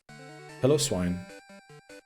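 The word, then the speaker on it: Piloswine: Pillow-Swine. Yeah, what is it called? Pillow-Swine. It doesn't have piles. Pile is spelled P-I-L-E, right? It's like pillow. Just without the W.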